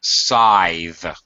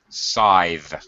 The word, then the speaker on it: scythe: That word is pronounced sythe. Scythe. Scythe. The first word. Oh, good. Yeah. Yeah. That you got it. Scythe. Scythe. Okay. Make sure you're giving voice to your th this that sythe.